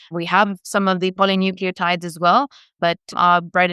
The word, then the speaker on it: polynucleotides: scared I'm going to pronounce it wrong, the polynucleotides? Yeah, no, you pronounce it perfectly.